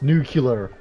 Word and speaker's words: nuclear: like, no, it's pronounced nuclear. Where the hell do you see that other U? It's not N-U-K.